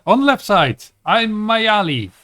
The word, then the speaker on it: Maiali: the left side i'm my alley it's that's an i that's an i it's not pronounced e there there's no there is no e in there um wait what happened